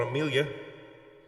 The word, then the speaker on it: Amelia: So, and it worked perfectly because I wanted a 4-syllable name with the emphasis on the second syllable. And so I changed it to Amelia.